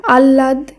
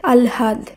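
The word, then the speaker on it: আহ্লাদ: সঙ্গে ল হয় ল এই হ এর সঙ্গে যখন ল যোগ হয়ে যুক্তবর্ণ গঠন করবে তখন আগে ল পরে হ এইভাবে উচ্চারণ করতে হবে তাই আ হয় ল আকার দ শব্দটির উচ্চারণ আমরা আল্লাদ আহলাদ করলেও সেটি হবে ভুল উচ্চারণ শব্দটি শুদ্ধ উচ্চারণ হবে আলহাদ আলহাদ এখানে হয় ল এর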